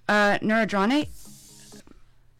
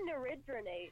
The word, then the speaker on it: neridronate: Is it neurodronate? Neurodronate? I say neridronate. Nerid- But I think either way is correct.